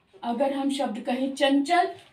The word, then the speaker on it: चंचल: और च का तालु स्थान, च का उच्चारण स्थान है तालु, तो इसका मतलब इस बिंदु का उच्चारण स्थान भी तालु होगा, चंचल।